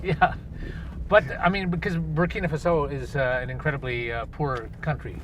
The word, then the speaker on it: Burkina Faso: So you grew up, of course, in Burkina Faso. That's right. Am I saying it right? You got it. Burkina actually. Faso. Yeah, that's French.